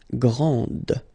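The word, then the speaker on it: grande: then the feminine form Grand okay so you put this and then you get the sound d d Grand okay and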